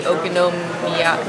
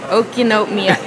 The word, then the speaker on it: okonomiyaki: All right, the second one, the Okonomiyaki. Now I forget how to say it. Okonomiyaki.